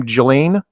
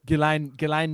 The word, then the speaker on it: Ghislaine: You don't need him and how you pronounce her name? Ghislaine? Is that it? Ghislaine Maxwell.